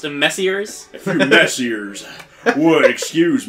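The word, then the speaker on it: Messrs.: repost but enough talk a few M mess that's pronounced messers a few messers would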